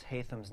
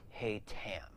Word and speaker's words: Haytham: this novel being written in the format of hatham's journal outside of the epilogue where it is